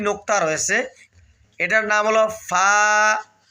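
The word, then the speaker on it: ف: এটার নাম হল ফা ফা ফা ফা ভাই ফা উচ্চারণের সময় সামনে যে দাঁতগুলো রয়েছে অর্থাৎ উপরের দাঁতগুলো এগুলো নিচের ঠোঁটের যে পেটটা রয়েছে পেটের সঙ্গে লাগাইয়া উচ্চারণ করবেন। ঠোটে ঠোটে আবার লাগাবেন না।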